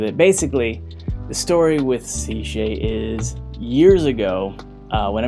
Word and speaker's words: CShay: Okay, so basically it's pronounced CShay, like the letter C and then Shay.